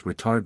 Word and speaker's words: retard: feet, the autothrottle enters retard mode. Stress is on the second syllable, in which it decreases engine power to idle in preparation for touchdown.